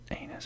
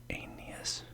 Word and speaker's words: Aeneas: it was easy apparently i was tempted to pronounce that anus for some reason but i think it's like aeneas aeneas lord of dardania never